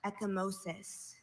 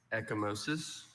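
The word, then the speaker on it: ecchymosis: Are there any alternate pronunciations? I have just echosis. May I have it in a sentence? A black eye results from echimosis. Can you say the word for us? Echimosis.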